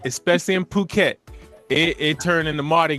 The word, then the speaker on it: Phuket: Wait, Phuket is the P H U K E T. That one pronounced Phuket.